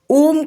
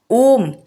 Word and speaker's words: ओम: ओम तीन अक्षरों आ, उ और म से मिलकर बना है।